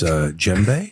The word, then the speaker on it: djembe: The D is silent. It's silent. Silent, yes.